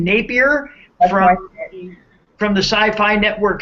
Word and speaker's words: Napier: Is it Napier? Yes. Is that how we say his name? Napier That's from the Sci-Fi Network show Helix.